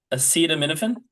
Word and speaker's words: acetaminophen: I'm pronouncing it right. Am I? Acetaminophen.